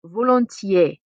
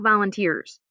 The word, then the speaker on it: volontiers: Another way to say that is volontiers. Looks like volunteers. Please don't pronounce it like that.